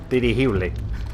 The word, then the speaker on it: dirigible: It's literally spelled the same. It's just pronounced differently. Dirigible.